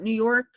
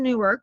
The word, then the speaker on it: Newark: And by the way, it's Newark, not New York. There is an actual Newark. It's in New Jersey. So Nancy is in Newark, which means she's not in Liberty.